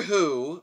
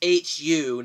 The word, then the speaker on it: Hu: King Kong escapes the film begins with doctor who played by a Ze'ev Emoto yes well it's pronounced hu not wh oh oh just Justin Tang says